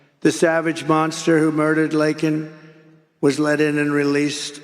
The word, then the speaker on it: Laken: never called and then he pronounced her name wrong remember he called her Lincoln remember that in Congress